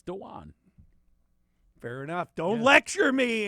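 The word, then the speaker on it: Dawuane: actually pronounced Dean so everybody thinks it's Dwayne because it looks like Dwayne it's danan fair enough Don't lecture me Andy I'm lecturing everyone it's danan smooth folks danan smooth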